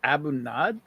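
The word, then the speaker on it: A'bunadh: how do you pronounce it Abu NAD yeah why would you pronounce it not because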